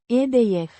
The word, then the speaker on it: Idee: Pronounced Ideieh. with stress on the first syllable.